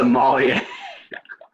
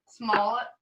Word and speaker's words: Smollett: you say Somalia? Smollett. How do you say it? How do you Smollett? pronounce it? It's Jesse. I think it's Smollett. Smollett. But he said Somalia.